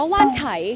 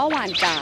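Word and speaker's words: Wan Chai: จ๋ นะ นะ คะ เฟิร์น เคย อ่าน ว่า หาน ไฉ แต่ ว่า จริง ๆ มัน อ่าน ว่า หวาน จ๋ ซึ่ง อ่าน ว่า หว่าน จ๋ หรือ เปล่า เฟิร์น ก็ ยัง ไม่ แน่ ใจ เลย อ่ะ คือ จริง ๆ อ่ะ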